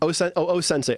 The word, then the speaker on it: O-Sensei: O-Sensei. O and then Sensei.